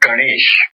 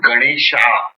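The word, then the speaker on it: Gaṇeśa: example like ganes ganes it is not Ganesha it is ganes how let us check up with this like ganes is the word because ganes is a masculine and so ganes becomes the Sanskrit pronunciation ganes you should have masculine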